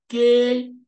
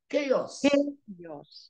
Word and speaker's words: chaos: Lokao in English is chaos. Look at that. The way that is my own way to be able to pronounce chaos. Chaos. So in English, it's not chaos, but it's chaos.